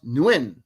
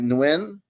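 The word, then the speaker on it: Nguyen: It's pronounced Nuin.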